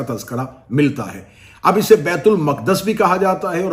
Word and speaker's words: بیت المقدس: چلیں بیت المقدس اس کا اصل تلفظ ہے جس کے تحت اس لفظ کو بولا جا سکتا ہے.